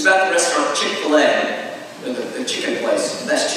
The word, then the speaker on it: Chick-fil-A: was talking about because she kept calling it Chick-fil. And I was trying to piece it together, and finally I caught it. I said, do you mean to say Chick-fil-A?